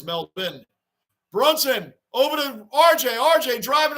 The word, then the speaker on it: Melbourne: Florida but I think in Florida it's pronounced Melbourne right that's what I was saying and now it's correct and in Australia it's Mel bin Brunson Overton RJ RJ